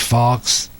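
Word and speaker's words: Fauch: Tuesday night will be Benjamin Fawkes, F-A-U-C-H, Fawkes. That's pronounced it.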